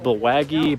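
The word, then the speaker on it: Bulwagga: The bay, I mean, I've heard it pronounced Bulwaggy, but I mean, it's spelled, I guess, Bulwaga, right?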